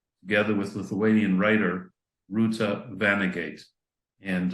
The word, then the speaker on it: Vanagaite: So first of all, I have to correct you. Her name is Vanagaite. Okay. That's the way it's spelled. That's the way it's pronounced in Lithuanian.